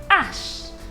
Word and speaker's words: H: come okay for example the letter h is pronounced as ash the letter k is